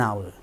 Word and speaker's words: hour: up maker a chakra h is silent we don't we do not pronounce a vowel sound so if there is a vowel sound we don't say uh we should and and now an hour right this is a